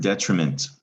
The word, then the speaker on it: detriment: r can move around it's not term it's trim all right term trim that's the syllable in the middle of this word it meant this is the word detriment it's a noun it